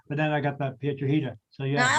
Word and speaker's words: Piedrahita: Piedrahita, because it rhymes with margarita.